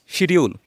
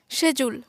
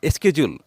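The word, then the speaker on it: schedule: থাকি okay let's get started আমরা বলে থাকি শিডিউল যেটা ভুল উচ্চারণ এটার সঠিক উচ্চারণ হবে কি সেজুল আবার বলো সেজুল আমরা শিডিউল না বলে বলবো সেজুল অথবা স্কেজুল তারপর আমরা বলে থাকি রেস্টুরেন্ট যেটাও ভুল উচ্চারণ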